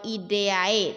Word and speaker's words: idae: Pada hewan, nama suku berasal dari nama marga ditambahkan dengan ide atau ideae tulisannya. Bacanya ide.